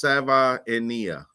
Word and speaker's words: Savaiinaea: It's a 3-syllable. It's Savaiinaea.